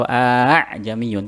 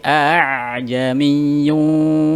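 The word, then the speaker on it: أعجمي: Jadi tidak boleh a atau a'jamiyun, tapi a'jamiyyun wa 'arabi.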